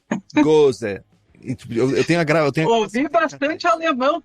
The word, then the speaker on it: Gose: Como é que se pronuncia exatamente? Gose. Gose.